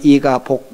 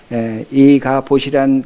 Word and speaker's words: 이가봇: 그래서 발음을 잘못하면 이가복 이렇게 들리는데, 이가봇이란 그 의미는, 이는 히브리어로 엘이라는 의미인데, 어디에, 어떻게, 무슨 일인가 하는 그 질문형입니다.